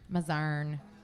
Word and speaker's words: Mazarn: did okay I always second guys myself Barn mazarn um yeah I know I'm just I'm lots